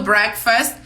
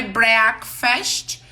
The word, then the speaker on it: Breakfast: breakfast e depois do Break Fast a gente já falou sobre a pronúncia desta palavra não é Breakfast e não é Fest no final é faz é um tu é mudo Breakfast Breakfast depois do